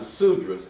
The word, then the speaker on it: sudras: And then according to this account and this is found in the earliest Hindu texts including the Rigveda you have the sudras s u d r a s the con